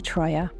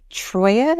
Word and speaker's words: Troia: hope lasting friendships my name is Troya and this is my story hi everybody I'm sitting here with Troya is that how you say it yes and